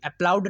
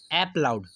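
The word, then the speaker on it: applaud: अगर बात करें इसकी अप्रूव, आप इसको अप्रूव पढ़ते हैं, अप्लाउड इसको पढ़िए, अप्लाउड नहीं, एप्लाउड, ऐप से, तो याद भी हो जाएगी आपकी स्पेलिंग अप्लाउड।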